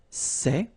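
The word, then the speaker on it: ces: and it's say okay remember open Say Say Say Okay one example s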